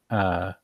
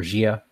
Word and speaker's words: Jia: So I'm thinking that Peerless Falcon has passed me over for another of his students, Ja. I think that's how I pronounce it, or Jia. Ja, like JIA? Yes.